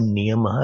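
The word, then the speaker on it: नियमः: When I say Niyamaha, I'm putting a visarg there. Actually, it is Yamaha. When you pronounce Sanskrit word, try to put like Yama, Niyamaha, Asan, Asanam or Asan, Pranayam, Pratyahar, Dharana, Dhyan and Samadhi.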